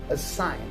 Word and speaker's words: assign: letter g is silent the first word where the letter g is silent is the word assign so a sign is